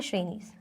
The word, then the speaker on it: Shrenis: ये Shrenis नहीं है, इसको वो कर लेना, ठीक है। इसको क्या बोलेंगे ऐसे? श्रेणीज।